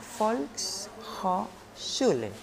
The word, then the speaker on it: Volkshochschule: una puede ser la folk julen así se llama se escribe como volkswagen yo yo y su